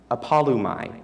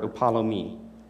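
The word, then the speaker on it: ἀπόλλυμι: And though my pronunciation may be 120% off, the Greek word for perish is apolumai, or upalomi.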